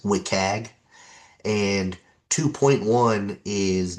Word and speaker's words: WCAG: There are several versions of these web content accessibility guidelines uh sometimes abbreviated to and pronounced as WIKAG and 2.1 is not the newest.